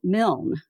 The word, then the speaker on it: Milne: my name is mil rhymes with Kiln but some people pronounce